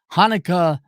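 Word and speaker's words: Hanneke: Verge and it's Hanukkah the only reason I remember how to pronounce her name because it sounds like the Jewish holiday Hanukkah Hanukkah something or other and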